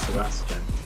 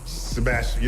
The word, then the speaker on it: Sebastian: In the UK, we give it 4 syllables, Sebastian. But over there, I think you only give it 3, right? It's Sebastian. Sebastian, I will just go with Seb.